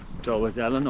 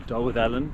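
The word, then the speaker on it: Dolwyddelan: you back in dollar Dylan or doll with Ellen that's how you say it and it took three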